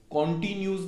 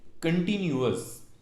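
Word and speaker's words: continuous: सो इंडेफिनट, then कंटिन्यूअस, कॉन्टिन्यूज नहीं कंटिन्यूअस, कंटिन्यूअस, कंटिन्यूअस, and then perfect and then perfect कंटिन्यूअस।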